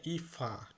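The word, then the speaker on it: Eva: আর এটা কিন্তু ইভা না, কিন্তু ডয়েচের উচ্চারণ ভি এর উচ্চারণ ইমার ইমার এফ মানে ইফা।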